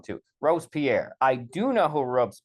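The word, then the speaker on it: Robespierre: that V uh has a problem where he mispronounces uh ropes Pierre ropes Pierre Rose Pier I'm saying it wrong too Rose Pierre I do know who Rose Pierre is I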